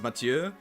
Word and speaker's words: Mathieu: You're the first English-speaking YouTuber who can properly pronounce Mathieu. It's because I did take French class and we watched Les Choristes, featuring Clément Mathieu. He's like the main character, so I heard Mathieu a lot.